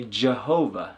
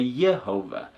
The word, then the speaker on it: Yahweh: pronounced some people say Jehovah some people say yova some people say Yahweh yahuah and there are other